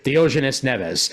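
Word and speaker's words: Diógenes Neves: uh di I always I always get that name wrong is it di dianis dioes NES thank you Dianes Neves uh realm of X and Suicide Squad and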